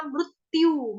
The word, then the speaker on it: मृत्यु: तो क्या हो जाएगा, मृत्यु, मृत्यु, मृत्यु, मृत्यु, तो दो आधे आधे त बोल रही हूँ, दो आधे आधे त का उच्चारण में कर रही हूँ, मृत्यु, आघात का